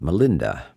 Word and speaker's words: Milinda: It's a whole book concerning the Greek king Menander, which is pronounced Melinda, as it works its way through the Indian languages.